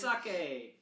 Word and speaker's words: sake: sake. What did you say? What did you Sake.